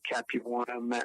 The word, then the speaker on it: Capuana: said, "My name is Mike Capuana, rhymes with marijuana," and he wanted me